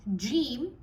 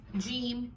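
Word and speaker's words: ج: So if you have to work on it, make sure you start off with a stronger pronunciation of the letter jim, not jim, it's jim.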